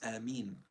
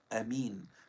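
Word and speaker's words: آمين: The opinions of the scholars are the purest linguistically is Ameen, with elongation and lightening the meme. A second opinion is with the alif being short, Ameen.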